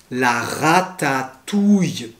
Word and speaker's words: ratatouille: alors pour commencer des plats typiquement français la prononciation parfois c'est compliqué le premier plat que j'ai choisi c'est l'art à tatouille alors n'ai pas peur ce n'est pas une